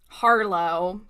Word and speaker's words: Harlow: Harlow, get it right. That would Because it rhymes with Marlowe, like Marlowe Santega from the High Republic, be, who's queer.